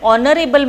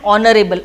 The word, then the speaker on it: honorable: see an honorable man h we are going to keep it is silent and honorable o o means it is o so o is what o is a vowel so that's why i have used and over here h will be silent if it is silent